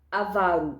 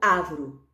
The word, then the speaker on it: avaro: Avaro, não ávaro.